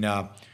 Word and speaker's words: Gouda: I did it in Gouda, that's how you pronounce it, in the Netherlands.